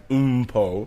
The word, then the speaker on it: Mpho: OOM-PO would be like the phonetic way of kind of spelling my first name, right? Mpho, Mpho, yeah.